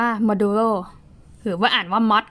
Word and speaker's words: modulo: เปอร์เซ็นต์ เพียง แต่ ว่า ใน โปรแกรม อ่าน ว่า มา ดู โร่ หรือ ว่า อ่าน ว่า